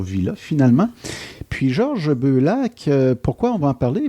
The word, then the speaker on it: Beullac: Beaulac. J'ai bien prononcé ça? C'est très bien prononcé.